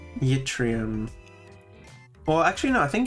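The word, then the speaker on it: yttrium: No, it's it's English pronunciation. So, it's yrium. Yrium. Okay. Because the Y is at the start and so it functions as a consonant.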